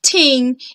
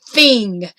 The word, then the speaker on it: thing: get the sounds right so instead of ting it's thing and just wanted to